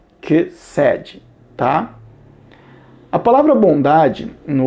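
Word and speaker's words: חסד: A palavra misericórdia se pronuncia kesed, tá?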